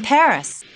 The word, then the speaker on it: Paris: of France live in Paris wow so this is Paris I can't believe that I've never visited the capital of France before yeah well the locals pronounce it Pari Carmen's conducted a lot